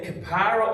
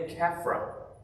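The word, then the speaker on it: Kappara: rabbi called Ben, and it can either be pronounced Ben Kapara or Ben Kafra, stated that the spirit of the dead hangs around the body for about 3 days.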